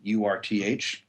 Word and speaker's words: Urth: a place for coffee called Earth Cafe and it's spelled with a u Urth and if you've ever